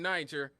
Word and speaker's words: Niger: You know, Nigerians are in Nigeria, but also in Niger. They just spell it different.